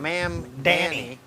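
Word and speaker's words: Mamdani: Ma'am Danny. How do you say that? Is that right? Ma'am, it's ma'am. Ma'am Danny, a new generation of leadership.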